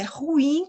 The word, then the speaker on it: ruim: É ruim que fala, só que as pessoas falam ruim. Mas a sílaba tônica é o in, que ela é uma palavra oxítona, tá bom?